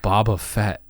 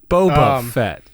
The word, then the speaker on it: Boba Fett: read it that way boba fett because bob is spelled b.o.b okay followed by a vowel makes it boba yeah if it was b.o.b.e it'd be bob if it was bobi it wouldn't be bobby it'd be boby i'm sure somebody spells